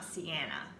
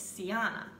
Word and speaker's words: Sianna: So if you're Australian, it rhymes with banana, but if you're American, it doesn't rhyme with banana. It's not Sianna, it's Sianna, like piranha or sultana.